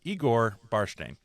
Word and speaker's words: Igor Barshteyn: Igor Barshteyn. I was so You worried about got it.